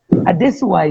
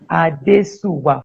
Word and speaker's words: Adesuwa: I give you the syllables. English is like that. Adesuwa is Adesuwa, 4 syllables. That's the essence of it. Adesuwa.